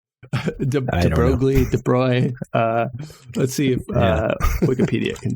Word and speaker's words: De Broglie: Because actually at the same time that they were coming up with the Copenhagen interpretation, De Broglie, I think is how you say his name, right? De Broglie.